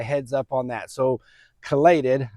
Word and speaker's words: chelated: I had a viewer tell me or suggest to me that I was pronouncing chelated wrong. And I was. It's not chelated. That's my East Texas accent. The proper pronunciation is chelated.